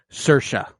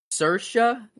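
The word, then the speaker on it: Saoirse: like to apologize that is not how you pronounce uh her name it is Sasha Sasha Ronan sercia Sasha s she's extremely Irish wow sercia I would never have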